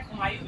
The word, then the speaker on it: कुमाऊं: दोनों प्रोनाउंसिएशन होता है, कुमायूं भी होता है, कुमाऊं भी होता है।